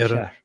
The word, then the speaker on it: Iran: Iranians oh oh yeah how do you actually pronounce this Armen Iran Iran okay yeah okay yeah nice so yeah Iran